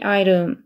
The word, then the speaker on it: item: 이거 아이템이라고 읽으시면 안 됩니다. item이라고 읽으셔야 돼요. item. 그래야 들립니다. She wrote down every item.